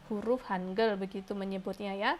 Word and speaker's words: Hangeul: Korea itu disebut dengan Hanger huruf hangeul begitu menyebutnya ya tulisannya Han gaul tapi membacanya hanger hanger memiliki fakta yang